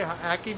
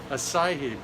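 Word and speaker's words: açaí: Ackee berry? How do you pronounce that? Acai berry.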